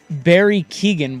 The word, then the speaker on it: Barry Keoghan: And then Barry Keoghan will play Ringo Starr. Yes. Is that how you pronounce his name?